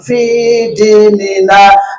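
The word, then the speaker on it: في ديننا: Ternyata ilmunya adalah bacanya harus tak pakai tasdid. Begini bacanya, Allahumma inna nas'aluka salamatan fi dinina. Fi-nya dipanjangkan, dalnya tidak diambil tasdidnya, kemudian dikasih nina. Ninanya sedikit dipanjangkan satu harokat. Fi-nya dipanjangkan minimalnya satu harokat.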